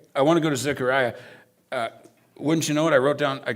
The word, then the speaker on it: Zechariah: He's like, Jeff, it's not Zechariah, it's an E. It's Zechariah.